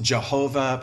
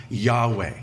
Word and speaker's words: Yahweh: to as the tetragramaton the four consonants YH wh most popularly pronounced Jehovah probably most accurately Yahweh okay so I'm the